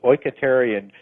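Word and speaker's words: οἰκητήριον: I've got it right for the listeners, is oiketerion, dwelling place or body for the spirit.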